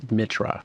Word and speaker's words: Mitra: stuff like that, but nobody ever says it correctly, which is Mitra.